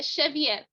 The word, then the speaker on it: Xavier: your last name incorrectly how do you pronounce that in portuguese uh cheviot okay i'll work on